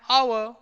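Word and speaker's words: hour: त्याच्यानंतर अॅन इलेफंट, अॅन अवर, अॅन यम आहे. Okay, last example बघा अॅन अवर. जर तुम्ही अॅन अवर जर स्पेलिंग जर बघितलं तर एच ने सुरुवात झाली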